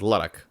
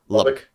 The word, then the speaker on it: Lubbock: Like I'm so bad at remembering how to pronounce these names because I could like with Luddock. Oh, Lubbock.